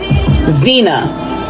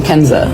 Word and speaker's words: Kenza: syllables do you know the lunch lady called me in third grade Xena my name starts with a K where do you get Xena from Kenza I don't if I